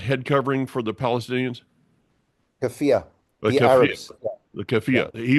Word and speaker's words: keffiyeh: a manger, which was the How do you pronounce that head covering for the Palestinians? Keffiyeh.